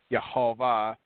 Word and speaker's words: Yehovah: He found the first vowels in his first manuscript that gave the correct pronunciation for the YHVH, which is Yehovah, which is anglicized as Jehovah.